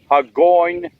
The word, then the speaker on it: Hagonoy: Hello YouTube, we're in Hagonoy, or however the town is pronounced. Hagonoy.